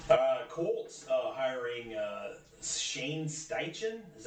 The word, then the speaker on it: Shane Steichen: years so yeah uh Colts uh hiring uh Shane steichen is how you pronounce it they're offensive coordinator uh they can